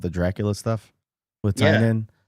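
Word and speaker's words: Tynion: That the you said Tynan, not Tinian.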